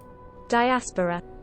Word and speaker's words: diaspora: about this feeling um the way I've always heard it pronounced from childhood is diaspora the emphasis on the r diaspora like diaspora let's find out yes bro bounce you ready for it diaspora diaspora not D die diaspora there you go